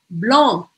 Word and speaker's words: blanc: Então, ó, bleu, blanc, blanc, blanc, blanc, blanc, eu não vou falar esse C no final.